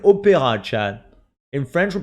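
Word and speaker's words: Opéra: Opera, but we pronounce it opera, chat.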